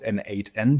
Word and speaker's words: n8n: to pronounce it, but I call it N8N because it's really the the letter and the number eight N.